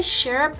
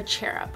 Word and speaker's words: cherub: these little cherub earrings are they share up or cheer up I I'm pretty sure their chair up is how they're pronounced but these little cute